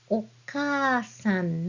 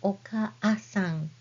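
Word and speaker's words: お母さん: And when you read this word, it sounds like okasan, not really okaasan. We say okasan. You hear the prolonged sound?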